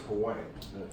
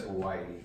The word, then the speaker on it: Hawaii: You are the first Hawaiian. Yes. Did I say it right? Yes. Because everybody says Hawaii. It's Hawaii, actually.